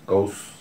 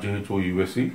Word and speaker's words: Gauss: So we can call whatever name if you want, you can use, but actually it should be pronounced as Gauss. Gauss, not Ghouse.